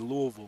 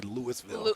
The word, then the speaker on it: Louisville: Some people get Louisville messed up. They say Louisville. Louisville. Yeah, or like Louisville. Yeah, Louisville. You got to say it right.